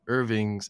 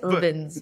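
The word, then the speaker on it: Irvins: arm of Irving's is Irving's Rachel Irving Irving. I always say it wrong, Djenaba and/or Rachel: that's confused me. I'm going to say it's Irvin's, but Marlin: Okay, we'll say Irvin's.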